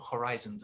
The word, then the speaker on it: horizons: I liked some of your vocabulary, like broaden your horizons. That's good. Just with the pronunciation there, you have to pronounce the H, broaden your horizons.